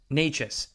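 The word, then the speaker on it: Nečas: You look at even like Nikash, I believe that's how you pronounce his name. Natchez, there you go.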